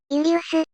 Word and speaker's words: Iulius: J を I にして、ユリウス、 C を K と読むから、次はカエサル。